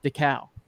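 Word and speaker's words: Dekal: i believe them and his name is definitely not jeff deckel it is jeff decal yeah and i know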